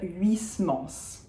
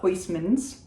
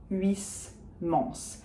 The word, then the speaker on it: Huysmans: And we say the S at the end of Huysmans. We do not pronounce the H, so it's not Huysmans. And we have that final ons, which is the nasal on. So we don't say the N, we do say the S.